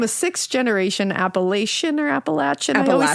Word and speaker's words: Appalachian: Appalachin.